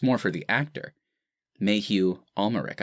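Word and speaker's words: Mathieu Amalric: more for the actor mayhew ulmeric i believe is how you pronounce it he'll be getting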